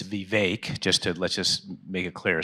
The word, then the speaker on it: Vivek: It's Vivek. Let's just make it clear. So the way he pronounces his name is Vivek, right?